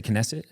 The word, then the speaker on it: Knesset: And the fact that it shines a light on the how do you say Knesset? Is that how you say? Yeah, the Knesset.